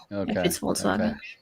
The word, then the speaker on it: Volkswagen: In German, the B is like an F.